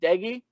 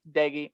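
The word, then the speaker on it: Doege: watch a couple offensive battles here burmeister versus deggy yes diggy i i said it right this time mountaineer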